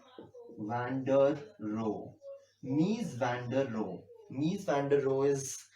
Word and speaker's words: Mies van der Rohe: and his name is miss van der Rohe Mies van der Rohe I think you guys can google this man so it is spelled as nice is his first letter van der Rohe Mies van der Rohe Mies van der Rohe is somebody who also